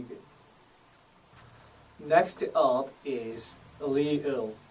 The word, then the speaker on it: 리을: Next up is 리을, pronounced with the L sound. An example of this would be 리 from leer, followed by 을 sound. 리을, 리을, 리을.